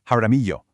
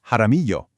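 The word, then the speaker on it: Jaramillo: In Spanish, LL almost always sounds like the English letter Y. So, a name like h a r i m m i l l o isn't haramillo, it's haramillo. And finally, we have the riddle of the R.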